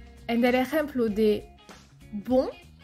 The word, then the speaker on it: bon: En el ejemplo de bon, es una O nasal, bon.